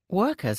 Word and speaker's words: worker: Workers are painting lines on a 이거 영국 발음이라 워커가 조금 워커라고 안 했지만 영국 발음